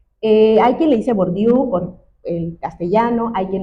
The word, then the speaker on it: Bourdieu: Yo le llamo Bordier, pero pues hay quien le llama Borbiu porque lo lo leemos desde el castellano.